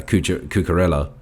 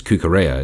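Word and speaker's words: Cucurella: and center by uh cookerella like we we were it's kookarea is how it's pronounced yeah cucaro yeah he he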